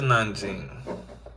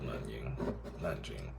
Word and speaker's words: Nanjing: Okay, so this is Nanjing. Americans always spell it with a K.